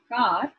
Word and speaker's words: car: instance in receive pronunciation the r is silent so a word like c-a-r car is pronounced as car but it is accepted